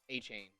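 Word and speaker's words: Etienne: Travis ETN, but he did have a story this year where he was like, "My name's actually Travis Achain."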